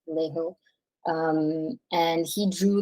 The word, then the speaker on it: Vallejo: that's how to pronounce his last name, Vallejo.